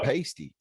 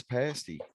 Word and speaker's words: pasty: like what is it we didn't even know how to say it yeah i kept it saying pasty yeah but they said it's pasty and i was like